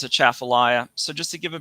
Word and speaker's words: Atchafalaya: I say it Atchafalaya because there's no at in it, even though people who have lived here forever sometimes say. Atchafalaya, pronouncing it all broken, like the T is to be said, as if it has